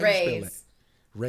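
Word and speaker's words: Rhys: Raise. R H YS pronounced race.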